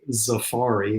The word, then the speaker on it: Zafari: them is called the zafari it's like Safari with an X and the other is